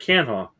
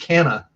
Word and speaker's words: Canha: Did you say Canha? Is that actually how you say it? Yeah, Mark Canha. Oh, I thought it was just Canna. Oh no, in Canha. At least that's how I've always pronounced it. I could be wrong.